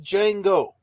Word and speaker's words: Django: Django instead of there's a d is silent you don't even say it right because that's that's